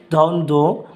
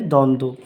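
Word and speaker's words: দ্বন্দ্ব: উচ্চারণ হয়নি তাহলে সান্ত্বনা তেমনিভাবে দ্বন্দ আমরা লিখবো বর উচ্চারণটা উজ্জ্ব থাকবে অথবা অনুচ্চারিত তাহলে দ্বন্দ পাঁচ নাম্বার শব্দের মধ্যে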